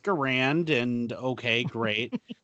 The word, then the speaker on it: Garand: are like I got an m1 garand it's pronounced garand and okay great its greatest battle room okay